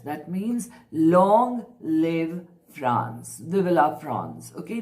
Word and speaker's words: Vive la France: Vive la France. Okay, in French, that's the pronunciation.